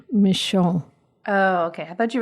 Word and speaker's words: Michon: author is Steph G michon oh okay I thought you were saying that that was the name of the is that did I say it right yes that sounds very French m i c h